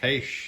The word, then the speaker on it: Heche: Is that how you pronounce her last name? Anne Heche. Heche, yes.